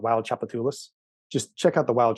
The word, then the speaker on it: Tchoupitoulas: the 70s called Wild Tchoupitoulas. Just check out the Wild Tchoupitoulas record. I will send you an email with the name because how it sounds isn't how it's spelled.